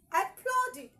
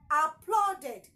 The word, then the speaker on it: applauded: As far as the verb is ending with a T or a D, then the ed automatically has its own syllable. And the sound coming from the ed is id and not ed. Okay? Applauded, not applauded.